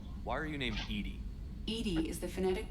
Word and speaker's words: EDI: a specific inquiry why are you named Ed Ed is the phonetic pronunciation of Eed that is an acronym for